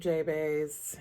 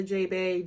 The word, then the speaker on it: Jeahbaes: That makes you a Jeahbaes, and the way you remember that is that gray rhymes with bay and J.